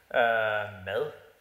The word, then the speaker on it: mad: a decade ago and it's called Mad Mad means food in Danish Mel actually that's how we pronounce that no and what started